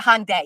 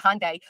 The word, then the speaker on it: Hyundai: embarrassing well it's a Hyundai I said it wrong it's not a hyunda it's a Hyundai uh families always d